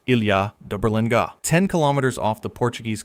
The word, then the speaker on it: Ilha da Berlenga: Pronounced Ilha da Berlenga.